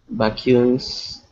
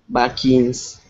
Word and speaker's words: vaccines: Well, there's a lot of accomplishment like vacuums. I don't know how to say it. Vacuums. Um, vaccines, vaccines, Ah, vaccines.